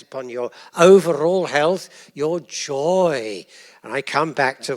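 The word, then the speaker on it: joi: They spell it ji, but that doesn't matter. They still pronounce it joy.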